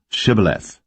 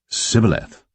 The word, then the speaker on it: Shibboleth: Then said they unto him, Say now, Shibboleth. And he said, Sibboleth, for he could not frame to pronounce it right.